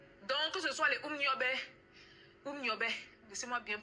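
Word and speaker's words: Um Nyobè: Donc, que ce soit les Umniobe, laissez-moi bien prononcer, je suis camerounaise, je dois bien prononcer les noms là. Umniobe, les Lumumba, les Sankara, Kadhafi, Wandi, la liste est longue.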